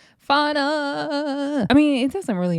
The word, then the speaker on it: Fauna: But it's just funny cuz Russian Cream is talking about how Elsk got jumped off camera and Russian Cream says FA. It's Fauna. Fauna.